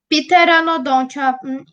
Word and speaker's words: Pteranodon: vamos ver o pe.no será que é isso pteranodon a pronúncia pedir para nó de ontem Ah tá E aí tem moto piterotatio o